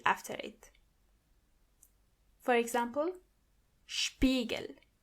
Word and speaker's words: Spiegel: When you see an S before a P, you have to automatically pronounce the S as sh.